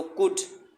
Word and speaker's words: could: अक्सर बच्चे इसे कुल्ड पढ़ देते हैं, कुल्ड नहीं है ये, इसमें एल साइलेंट है। तो कुड इसमें ओ यू की थर्ड साउंड है, थर्ड ऊ की।